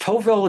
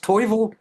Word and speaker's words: tovel: And then it's pronounced tovel, it's not pronounced toivel, and it's pronounced mohel,